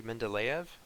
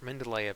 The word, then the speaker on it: Mendeleev: There was a Russian scientist named Dmitry Mendeleev, I believe is how you pronounce his last name.